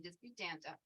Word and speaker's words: Disputanta: my husband and I own Chester Estates in an event, which is located in Disputanta, Virginia.